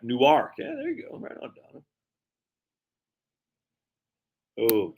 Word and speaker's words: Newark: low state income tax is much lower your pronunciation is correct Newark yeah there you go Oh California super dude